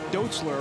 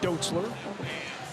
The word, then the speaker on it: Dotzler: and say you know we all say dotler around Omaha people say dotler this family pronounces it doler if you'd like a